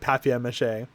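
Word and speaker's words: papier-mâché: with the paper uh paper mache I almost said papia mache um which I think is the right way to say it but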